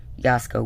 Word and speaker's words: Jasko: Chris, who films with Yasko, which is spelled Jasko, and Dylan, who sometimes films for CJ Faison, F-A-S, no, F-A-I-S-O-N.